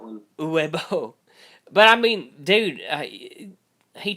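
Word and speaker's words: Uwe Boll: U-Bowl. Some people just call him U-Bowl. Or Uva Bowl. I've heard that one. Uwe Bowl.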